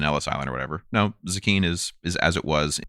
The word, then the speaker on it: Zecchin: spelled z-e-c-c-h-i-n it's pronounced zucchini that's weird sounds like zucchini yeah so what um